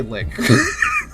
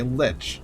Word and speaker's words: lich: Because I always just say lick. Lich. Is it lich? Okay, lich. Thank you.